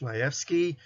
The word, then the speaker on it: Shmaefsky: book and I'm and last name is pronounced Majewski and I'd like to just give you a